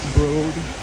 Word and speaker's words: Broad: It's at the Broad. That is the correct pronunciation, Broad.